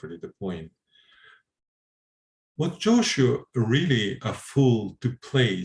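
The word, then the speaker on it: Jōshū: What was Joshu's placing his sandals over his head to do with the quarreling? Joshu is Japanese pronunciation of Jiaozhou.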